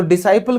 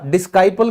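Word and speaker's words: disciple: फिर शिष्य यानी कि डिसाइपल, तो डिसाइपल क्यों हुआ, डिस्काइपल क्यों नहीं हुआ, क्योंकि ये जो एस के बाद सी आ गया, इस रूल की वजह से ये हमारा साइलेंट हो गया।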